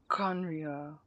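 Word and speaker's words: Khaenri'ah: destroyed 500 years ago kanria that's how you pronounce it conriya 500 years ago then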